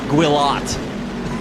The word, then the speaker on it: Guillot: Guillot. Guillot, that's it. It's definitely not it. Americans sometimes don't like to pronounce letters, I've noticed, so I wanted to double check.